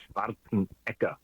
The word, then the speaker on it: Schwarzenegger: Actually, Austrian pronounce it Schwarzenegger.